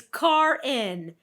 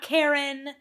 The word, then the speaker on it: Cairn: It's Cairn, not Karen, not Sharon.